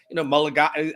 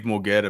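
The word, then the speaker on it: Mulugeta: guy who's represented them, Mulligata. How do you say Mulligata? Dave, Is that Dave Mulgeta, man.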